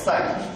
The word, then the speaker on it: psi: So this is pronounced as psi.